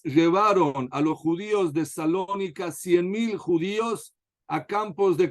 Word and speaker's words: Salónica: la comunidad judía de salónica no sé si dicen salónica o saloniki como ustedes lo pronuncian pero como como dicen Generalmente salónica salónica perfecto la comunidad de salónica